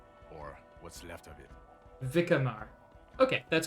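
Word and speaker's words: Vicquemare: special task force or what's left of it vikkamar okay that's how it's pronounced um my special task force i was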